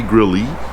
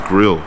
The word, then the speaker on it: grille: That would be grill E. Yeah, the E silent. The E is silent? No, it's grill.